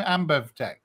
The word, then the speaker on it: AmbevTech: How do you pronounce the name? AmbevTech.